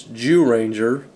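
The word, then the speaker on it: Zyuranger: Of course, it is the Red Ranger from the first series Mighty Morphin, or from the Sentai series Jew Ranger. By the way, that's spelled with a Z for those of you who don't know.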